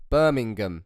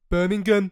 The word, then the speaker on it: Birmingham: I appreciate I don't say it properly. I leave the G out. Birmingham.